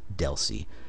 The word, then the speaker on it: DLCI: link connection identifier or Deli you'll see dlci almost everybody I know that I've ever heard say this pronounces as it Deli rather than sounding Out each letter of the abbreviation and the number of